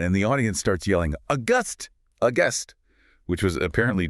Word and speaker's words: Auguste: Pronounced August.